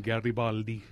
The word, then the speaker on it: Garibaldi: you here happy to have you it's garabaldi right didn't weon correctly we were just talking about last names and pronunciations that's the correct pronunciation Garibaldi yes for the Italians we got to get